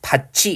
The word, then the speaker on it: 밭이: 역시 밭이 이렇게 자연스럽게 발음이 되죠. 우리가 어렸을 때부터 이러한 음운 변동 현상에 맞게 발음을 해왔기 때문에 그냥 가볍게 확인할 수 있는 거고요. 지금 봤더니 디귿이 뭘 만나서 이 만나서 국의음 지읒으로 바뀌고 있고요. 티읒이 뭘 만나서요. 이 만나서 국의음 치읒으로 바뀌고 있어요.